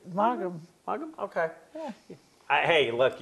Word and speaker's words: Maugham: How do you pronounce that, Angie? I believe it. You're right. Maugham.